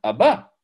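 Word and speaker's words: אבא: Aleph, Bet, Aleph. Donc c'est Abba.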